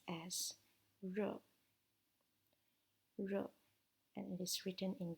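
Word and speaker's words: 日: about the sunny and in Chinese it is pronounced as row row and it is written in this chapter so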